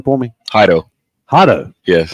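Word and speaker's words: Jairo: that's right so uh now now Solace um pronounce his first name for me haido haido yes i' I've been all often think you been saying gyro yeah like so hio yes hio it's j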